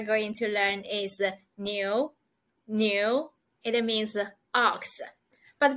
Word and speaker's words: 牛: is the the simplify the Chinese it is pronounced as the new new it means ox let's see how it